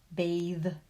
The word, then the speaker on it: bathe: In the short vowel version of those words, it's an unvoiced TH, bath. But in the long vowel version, bathe, clothe, it becomes a voiced TH.